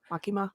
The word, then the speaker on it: Makima: Makima?